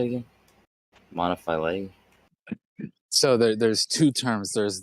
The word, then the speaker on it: monophyly: Monophyly.